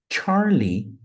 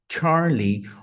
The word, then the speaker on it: Charlie: uma observação bem interessante a letra C você pode tanto falar Charlie Charlie perceba que o som é Charlie ou você também pode